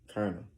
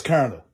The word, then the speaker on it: colonel: Colonel. Good. Say that word. Clooney? What? Clooney. That's not Kalani. What? That's Colonel.